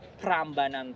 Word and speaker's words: Prambanan: just keep it simple now we call it prambanan temple not paraabrahman temple anymore and later if you